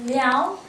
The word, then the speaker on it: Liao: The word how you pronounce it is Liao, and the other one is Songren.